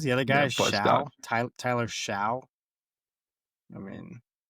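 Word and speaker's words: Shough: Tyler Tyler Sha. I mean, I just pronounced like so, isn't it? Like it's a I think it's so or Yeah. The H's are silent.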